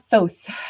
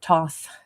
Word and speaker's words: Thoth: And we have Thoth or Toth. It depends on how you want to say it.